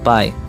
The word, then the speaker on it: pi: number and this is called the pie well not this kind of pie the pie that i mean is spelled as p and i which refers to a